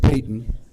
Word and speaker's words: Patton: It's spelled like Patton, but George Payton.